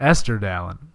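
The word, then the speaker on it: Estirdalin: How do you pronounce that Esther again? Dallin. Esther Dallin, which is, Yeah.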